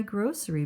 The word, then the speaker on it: grocery: I know I reuse my grocery bags. Grocery. That's a funny word because the C makes the S sound a soft C.